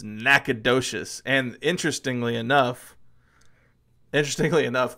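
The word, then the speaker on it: Nacogdoches: not that's probably not the right way to pronounce it but if you want to be texting about it it's nacad docious and interestingly enough interestingly enough there's a little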